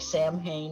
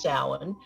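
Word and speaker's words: Samhain: the way is spelled s-a-m-h-a-i-n it looks like Sam Hayne it's pronounced Salin it was celebrated at the end of what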